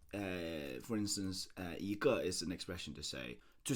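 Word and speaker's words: 一个: But the idea here is that this g will have a fourth tone, and then it sounds very awkward to say 一个. So it sounds a lot better if we put a second tone to that.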